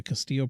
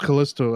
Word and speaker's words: Callisto: The December 2nd, we have the Castillo Protocol. Is that how you say it? I think so. Okay. No, it's Callisto, I think.